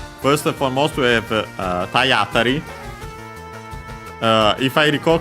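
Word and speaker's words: 体当たり: Cioè, unsurprisingly, Tayatari, the accent becomes actually on the A, which is not surprising as that's actually a typical spot for the accent for compounds.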